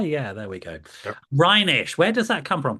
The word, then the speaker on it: Reinisch: It's Rhinish. Reinish. Rhinish. And don't worry about mispronouncing it.